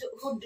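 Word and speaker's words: would: ஸோ எல் எங்க silent ஆகுதுன்னா எல்லோட டி சேர்ந்து வரும்போது, எல்லோட டி சேர்ந்து வரும்போது, எல்லோட எஃப் சேர்ந்து வரும்போது, எல்லோட எம் சேர்ந்து வரும்போது எல் அங்க சைலண்ட். ஓகே, எக்ஸாம்பிள் ரீட் பண்ணிக்கலாமா? Good, ஹுட், ஷுட். Good, ஹுட், ஷுட்னு சொல்லும் போது இல்ல, எல்லோட சவுண்ட் இல் தானே, இங்க இல் சவுண்ட் கேட்கறதே இல்ல.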